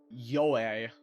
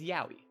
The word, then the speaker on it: Yowie: How do other people pronounce it? Yoe. Yowie. It's Yowie. B8.